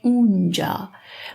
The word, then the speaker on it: آنجا: آنجا we pronounce as اونجا.